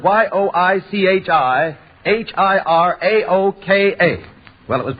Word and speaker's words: Yoichi Hiraoka: Well, one of the names in the tests was spelled Yoichi Hiraoka. It was spelled Yoichi-Hiraoka. Well, it was pronounced by many taking that announcer's test as Yoichi Hirokawa or Yoichi Hiroike, and a great many other variations, all of